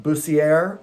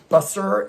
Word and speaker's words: Bussiere: And it is my good friend Bussiere, although I have heard it pronounced Busser and Bussiere multiple times at competitions around the United States, but it is Bussiere.